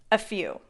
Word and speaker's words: a few: take a closer look a few is often linked to sound like a single word a few the stress is on the second syllable the vowel sound and few is ooh few a few a few